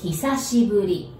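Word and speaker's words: 久しぶり: the pronunciation first so hisashiburi so the first he it says hi but we pronounce he as in he's the man the he and sashi as in sashimi's sashi do you know what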